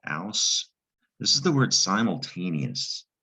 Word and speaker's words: simultaneous: what simultaneous means but the other tricky part is this eos at the end that's also latin in origin in latin it's spelled e u s and it's pronounced yes